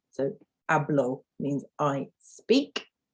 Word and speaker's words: hablo: So hablo means I speak, hablo. And you'll notice that the H is silent. If you have watched my phonics video, you'll know that an H is usually silent in Spanish.